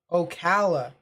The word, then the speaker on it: Ocala: super cell to watch this one right here ocala that's how it's pronounced see i appreciate it when people correct